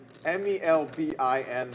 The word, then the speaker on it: Melbourne: call in Australia called Melbourne Melvin Melvin Melvin yeah Melbourne m-e-l-b-i-n somehow an album or in Scotland